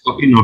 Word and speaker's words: Enoch: Is that how you pronounce it? Yeah. Enoch, yeah.